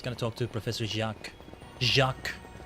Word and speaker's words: Jacques: Jacques. I gotta say it like that. Not Jax. Jack. Jacques.